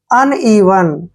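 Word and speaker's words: uneven: Next word देखिए UNEVN, UN को क्या पढ़ रहे हैं हम, अन, ठीक है, और ई का उच्चारण यहाँ ई करेंगे और वी को व पढ़ेंगे और एन को न लिखेंगे। अनइवन, अनइवन मीन्स होता है असमान,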